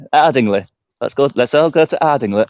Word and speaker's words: Ardingly: It's Ardingly.